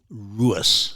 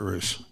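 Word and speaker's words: Ruess: I was particularly taken with the Everett Royce. Am I saying that right? Well, okay. The family officially pronounced it Ruis. Ruis. But I and everyone else calls him Everett Roos.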